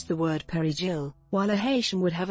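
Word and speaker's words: perejil: A Dominican would be able to properly pronounce the word perigil, while a Haitian would have a Creole accent on the word that would clearly point to them being Haitian.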